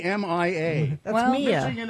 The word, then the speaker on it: Myah: MYAH. MYHA. MYAH. The H is silent. Yeah. Yeah. It should just be MIA.